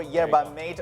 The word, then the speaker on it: yerba mate: And yes, it's pronounced yerba mate. Yerba mate. Yerba mate. Mate. Mate, correct.